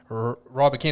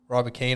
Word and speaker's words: Rybakina: Rybakina, and I've realised I'm pronouncing it wrong. I'm still pronouncing it wrong. Oh, that sounds right. I can't think of what the actual pronunciation is, but it's not Rybakina, it's Rybakina or something like that. It's completely different to what we're saying, but Rybakina.